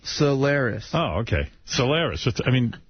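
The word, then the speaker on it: Cylaris: They said, tell them it's pronounced Solaris.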